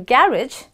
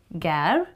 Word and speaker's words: garage: Now some say it's garage, some say as garage. So garage is British. Gar-idge, okay? Garage. It's the same as marriage or cartilage. The A-J-E becomes idge for British.